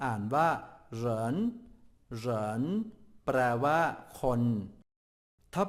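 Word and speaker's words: 人: ดี อักษร จีน ตัว ที่ 2 อ่าน ว่า เหน เหน แปล ว่า คน ถ้า แปล ตรง ตัว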